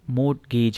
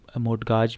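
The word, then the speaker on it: mortgage: अब देखें ये मोर्टगेज है, अब इसको और तरह से भी मोर्टगाज भी हो सकता है पढ़ें, मोटगाजी भी हो सकता है कि कोई पढ़ता हो, लेकिन इसकी जो सही प्रोनाउंसिएशन है वो क्या है, मोर्टगेज, मोर्टगेज, ठीक है।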